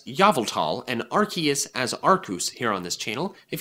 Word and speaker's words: Arceus: be focusing on Yamato for the uninitiated we pronounced yveltal as novel tall and Arceus as our couse here on this channel if you don't know